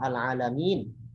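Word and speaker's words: العالمين: Contoh al-alamin, mim ada ya, madiyah dibaca minimal 2 harokat. Al-alamin, al-alamin itu 2 harokat, gitu kan. Tetapi ketika di akhir kalimat, ketika kita misalnya memang itu di akhir kalimat, ya bukan di akhir kalimat, maka di situ diperkenankan dibaca lebih dari 2, boleh 4, boleh 6.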